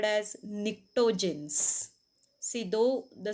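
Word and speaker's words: pnictogens: as nitrogen family which is also called as nicktogens see though the spelling starts with p is silent this pronunciation is nectarines then group 16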